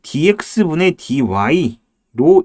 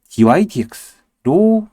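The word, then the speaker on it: dy/dx: 그 다음에 이거는 미분했다는 기호는 이게 분수처럼 보이기 때문에 dx분의 dy로 읽지만 많은 선생님들도 그냥 그렇게 읽습니다. 일반적으로. 왜? 편하니까. 근데 dy dx로 읽어야 됩니다.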